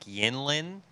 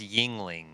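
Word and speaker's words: Yuengling: you said I think you said it like yinling yinling it's Yingling the be it was a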